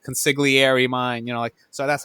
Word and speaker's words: consigliere: Does Sonny pronounce the G when he's talking to Tom? I think the Don was the only one that pronounced the G, which makes no sense, because he's Italian, so he should say it the right way.